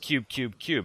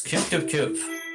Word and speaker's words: Qbqbqb: So your game is called, well, it's spelled Qbqbqb, but I'm told it's pronounced Qbqbqb. Is that correct? Yes, it's Qbqbqb.